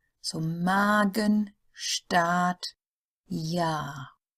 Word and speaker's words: Magen: The A sound is long, as in A, then it is followed by a single consonant that would belong to the next syllable if separated, like Magen. So the next syllable is the Gen, Magen.